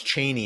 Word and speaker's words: Cheney: Bush era when then Chris Matthews he would pronounce Cheney in a very different way and was saying this is the right way to say and like Dick Cheney never pronounced it it was like Cheney you